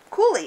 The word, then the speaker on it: coulis: Coulis, it's French. It's pronounced coulis.